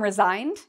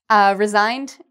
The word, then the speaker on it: resign: And even though we have an S here, it's pronounced like a Z.